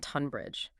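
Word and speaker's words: Tonbridge: If a place name begins with Lo N or T O N, that initial sound is often pronounced as a short sharp O sound like on.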